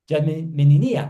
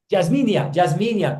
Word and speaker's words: Jasminia: Perdón, Jasminia, perdón, pido disculpas por mi pronunciación. Ayúdame con la pronunciación adecuada de su nombre. Yasminia.